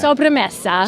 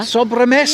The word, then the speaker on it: Sobremesa: What's the pronunciation there? Sobremesa. Sobremesa. Yes, That it's a sounds Spanish right.